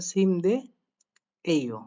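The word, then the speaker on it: 침대예요: উত্তর দিচ্ছে সিম দে যেহেতু বিছানা তাই বলছে সিম দে এই ও আমরা উচ্চারণ করব সিম দিয়ে এই ও এখন এখানে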